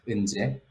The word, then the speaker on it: Eunjae: Yes, it's very hard to write down my name in English alphabet, but anyway, my name is pronounced Eunjae.